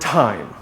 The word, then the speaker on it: time: out it's not time the way to pronounce it is by saying tai as in thai people thai food thailand then just add sound